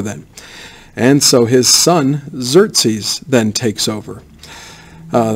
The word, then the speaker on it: Xerxes: and so his son xerzes then takes over uh that's how you say his name xerxes at least that's why i've heard everybody say it starts with the next i know it looks exorcise but anyways so he